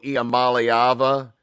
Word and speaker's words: Iamaleava: He and Nico Iamaleava, yes, that's how you say it, kids.